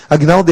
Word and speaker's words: Agnaldo: com g mudou Tenebroso então Agnaldo tem um G sonoro sem vogal posterior Aguinaldo é assim que a gente tem que falar é G sonoros em